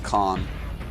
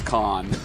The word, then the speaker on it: Khan: I always pronounce that Khan. Oh yeah, they pronounced it wrong. Okay. We were actually making a little bit fun of that yesterday. Because I've lived in Korea for 5 years and been in the Samsung house multiple times, and I'm pretty sure it's Khan.